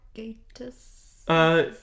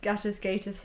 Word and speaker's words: Gatiss: Mark Gatiss? Yes, Mark. Insert correct pronunciation. Yeah, Gatiss. Gatiss here.